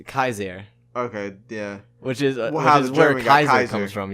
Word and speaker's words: Caesar: seventh century AD yes these are always pronounced Kies Air okay yeah which is